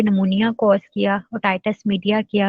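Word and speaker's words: pneumonia: ठीक है, निमोनाई जब बोलेंगे तब ऑर्गेनिज्म का नेम है, और नमूनिया जब बोलेंगे तो वो डिजीज का नेम होता है। ठीक है, इनकी प्रोनाउंसिएशन थोड़ी सी डिफरेंट है। नमूनाई ऑर्गेनिज्म नेम है और नमूनिया जो है वो डिजीज नेम है।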